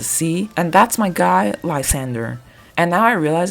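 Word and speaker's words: Lysandre: and that's my guy, Lzander. And now I realize in English his name is pronounced Lzander cuz we can't speak French, I guess.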